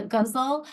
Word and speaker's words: ghazal: So sometimes it rhymes with muscle, and I tried to rhyme in my title.